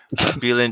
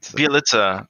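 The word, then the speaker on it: Bjelica: I don't know if Damian Lee gets any playing time, but uh, I can't ever pronounce this man's name. Bielin, it's Oh, oh, BJ Bielitsa.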